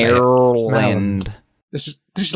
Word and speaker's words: Maryland: Maryland. This is like Arkansas all over again. It's like Marilyn Monroe, but with a D at the end.